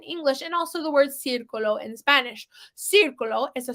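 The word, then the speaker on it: círculo: right so we have Circulo everybody says now the C has the same phonetic rule in Spanish as in English meaning if the C has e i or Y after it it sounds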